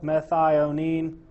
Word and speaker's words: methionine: I just remember it there's four syllables methionine CCSC which is kind